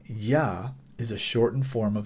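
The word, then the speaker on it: Jah: and that word is Yah, J-A-H, and I'm pronouncing the J as if it were a Y, because that's how it's pronounced in this particular case. Yah, okay?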